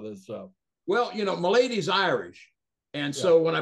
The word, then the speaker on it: Malady: So, you know, Santos never thought about changing my name, but people always, my lady is the way it's pronounced, but Malady, it gets butchered all the time, so...